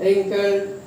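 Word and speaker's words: wrinkled: ये W इज not spoken, इसमें W को पढ़ा नहीं जाता है, साइलेंट है, not pronounced. रिंकल्ड, writer, wrist, इन सब में W क्या है, साइलेंट।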